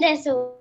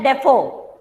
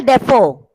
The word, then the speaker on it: Defoe: Prathamesh, Delphine Deso. Daniel Defoe. The pronunciation is Daniel Defoe.